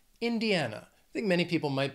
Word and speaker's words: Indiana: The next state, Indiana, has four syllables, stress is on that third syllable, Indiana.